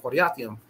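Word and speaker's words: Kiriathaim: So y'all help me out when we get to that word, and we're going to pronounce it Quariathaim. It means two cities, like Dayton and Columbus.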